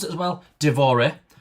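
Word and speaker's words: dévoré: Divore. So it usually has an accent. That is D-O-V-O-R accented E.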